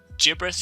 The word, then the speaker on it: gibberish: I be sent gibberish through the soft G I pass a to the hard G this whole time I mean gibberish is a word and I've always pronounced it soft G well today I learned all right so judge